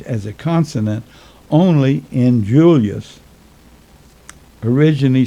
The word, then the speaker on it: Julius: And it was pronounced Julius because the I was pronounced as a Y.